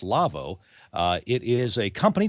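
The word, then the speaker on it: Lawo: by the folks at Lavo l A Wo pronounced Lavo uh it is a company that makes consoles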